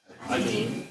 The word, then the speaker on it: один: You know why I pronounce один, right? Why I pronounce один and spell O. Pronunciational rule, right? Okay, so before the stress, immediately before the stress, O pronounce like A, right?